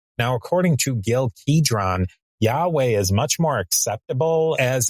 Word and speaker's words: Yahweh: And I'm just going to use the typical American English pronunciation of that word Yahweh.